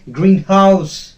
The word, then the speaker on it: greenhouse: in that case also the first syllable will be stressed.